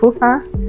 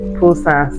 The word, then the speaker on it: Busan: Now we are in a new city, Busan. So it's pronounced Busan with a P, even though it's spelled with a B.